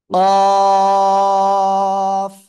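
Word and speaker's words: قاف: জিহ্বার গোড়া, তার বরাবর উপরে তালুর সাথে লাগাবো, লাগিয়ে আমরা মোটা আওয়াজে উচ্চারণ করব। কফ, চার আলিফ টান হবে।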